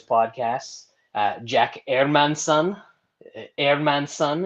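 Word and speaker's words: Hermansson: uh jack airman son airman son is the correct uh correct pronunciation i don't know if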